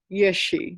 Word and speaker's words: yeshe: we use the word yes she yes she is probably the most common word that is used for wisdom and as I said before it's two syllables yay and Shey so yeh means primordial